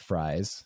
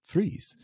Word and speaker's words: Fries: been to uh uh it's called Freeze uh but it's it's spelled fries I learned that um it's it's not fries it's not a side of fries it's freeze um but uh uh